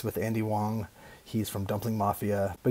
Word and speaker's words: Wang: wrong way it's andy wong it's spelled w-a-n-g so i always thought it was andy wang but it's andy wong so that way that's